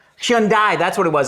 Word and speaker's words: Hyundai: knowing how to say Hyundai? Hyundai, that's what it was. I was saying Hyundai. but I was giving you the Hyun. You got the Hyun right. You just didn't get the die right.